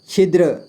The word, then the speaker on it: छिद्र: छिद्र छिद्र ठीक है इसमें आधा द का आवाज सुनाई देता है छिद्र क्या पढ़ेंगे छिद्र